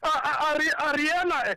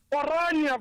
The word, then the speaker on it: Orania: institution, or they must go to Ariana at least. I don't know how to even to pronounce that thing. Orania, you say? Orania, correct.